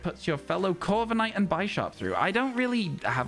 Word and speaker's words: Bisharp: It's probably pronounced Bisharp because it's based on a bishop in that sense.